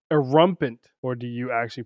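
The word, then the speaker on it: Erumpent: A rumpant, or do you actually pronounce it? I'm about to go look this up. This is killing me. Erumpant.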